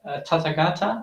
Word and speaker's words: Tathagata: Oh, they have a question first by Tathagata. I'm sorry if I'm not pronouncing that correctly. Hi, yeah, you're absolutely right. That's how it's pronounced.